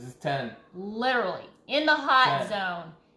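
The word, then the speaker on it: haute: In the hot 10. Zone. Hot spelled differently than hot. Like hot mama. Oh, sorry. This is spelled H-A-U-T-E. As you can see right above us, it says not H-O-T.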